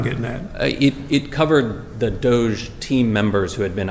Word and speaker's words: DOGE: I'm from West Virginia, and I think the part that of West Virginia I'm from, we would call it dog or doggy or something. But DOGE, I've heard on television.